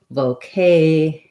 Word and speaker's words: vocation: So my vo syllable, even though I use a clear O, is going to be pretty short. Vocation.